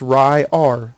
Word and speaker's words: Ryar: So I want the first name to be pronounced Ryar. So I use the word Ry, R-Y-E. Then I put a dash, and then I put A-R-E.